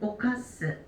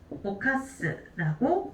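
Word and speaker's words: 犯す: 때는 함이라고 읽어주게 되고요 순독으로 읽어 줄 때는 오카스 오카스라고 읽어 주시면 되겠습니다 그리고 엔터에서는 오카스가 하나만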